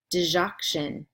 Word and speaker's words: digoxin: email them to me here is week 9 pronunciation words clonidine cozaar digoxin endure all indicate nifedipine nitroglycerin propranolol riff mall